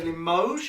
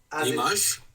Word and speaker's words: Limoges: We would say Limoges. Is that correct? Limoges? As in with an O.